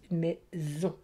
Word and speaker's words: maison: En effet, le S est entre un I et un O, et donc se prononce Z, maison.